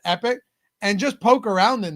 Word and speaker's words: EPICK: Plus, I would suggest you guys at the very least download the app EP pi epic ck pronounced epic and just poke around in there if nothing else.